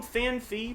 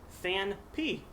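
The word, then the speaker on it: Phanpy: People call him FanFi because there's that soft PH sound in the word elephant. However, the card is pronounced Fan P.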